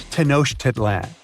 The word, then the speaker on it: Tenochtitlan: It's Tenochtitlan. And Mayan cities are hard to pronounce too.